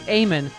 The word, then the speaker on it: Ayman: i got to do eamonn mohiti's show on msnbc saturday night his producers in my ear did say stephanie it's eamon i don't know what